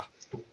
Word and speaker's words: Asuka: Asuka.